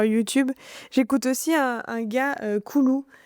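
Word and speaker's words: Coulou: J'écoute aussi un gars koulou c O u l o u. Voilà tout simplement comme ça se prononce qui fait de la guitare et de la trompette.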